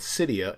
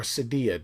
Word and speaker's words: Cydia: with apple now it's going to verify with Cydia and allow you to do that or Sadia depending on how you want to pronounce it um and it's going to verify